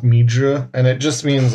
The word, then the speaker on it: 蜜汁: So like they'll write the characters differently, but it almost always is pronounced mi zhi, and it just means like a sweet sauce, kind of like a barbecue-y sauce.